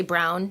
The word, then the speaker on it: Braun: Brown I think you wear many hats Ron Brown you like to say Brown yep okay that's why we pronounce it around these parts mm-hmm where do